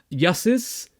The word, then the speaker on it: Yussus: debut album which I want to give the pronunciation right it's yeses um so uh it's been out for just